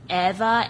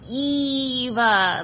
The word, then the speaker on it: Eva: __ ] right because everybody's like Eva Eva it's like no Eva like WALL-E that's what I that's